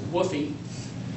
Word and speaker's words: WFOE: a Chinese company uh wfoe which interestingly enough seems to be pronounced by everybody as a woy uh stands for wholly